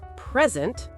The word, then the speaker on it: present: If I say present, noun, it means a gift, or it means being here right now.